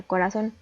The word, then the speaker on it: corazón: acentúa y después tenemos la palabra corazón vemos que la sílaba tónica recae en la última sílaba termina en n por lo que debemos acentuar la tenemos otra palabra aguda